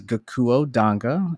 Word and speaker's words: Gakuo Danga: so my name is gakuo danga and i'll help everyone break that down so it's three syllables and then the last name danga and i'm sure people